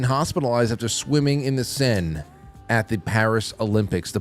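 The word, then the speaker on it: Seine: uh more specifically the multiple Olympians who have now been hospitalized after swimming in the Sen River, which now I pronounce correctly.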